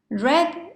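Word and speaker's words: read: bleed first column bleed then red red although you see here e an a this is a short sound red red like the color red other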